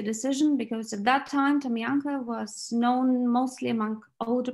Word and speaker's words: Tamyanka: Tamyanka, that's how we pronounce it in Bulgaria.